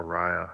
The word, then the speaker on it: Arya: A-R-Y-A. I would say Arya, but doesn't correct us. Cool. Actually got it right.